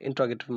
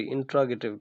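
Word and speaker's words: interrogative: और लास्ट में हमारा इंट्रोगेटिव मार्क। तो ये रहा हमारे पास नेगेटिव की, सॉरी इंट्रोगेटिव की। इसे इंटेरोगेटिव नहीं पढ़ते होते, इसकी जो करेक्ट प्रोनाउंसिएशन है वो इंट्रोगेटिव है।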